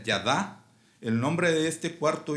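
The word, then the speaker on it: yadah: La palabra hebrea para alabanza es odé, de la raíz Ida, Y-D-A-H, se pronuncia Yadá.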